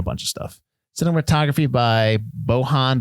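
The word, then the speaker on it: Bojan: of stuff cinematography by bohon Buzzelli I hope I think I don't think you pronounce the J there Pumpkinhead listen he's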